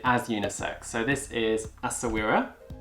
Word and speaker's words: Essaouira: So this is Sawira. And Sawira is actually, it's spelled a little differently. Essaouira is the name of a port in Morocco, which was very famous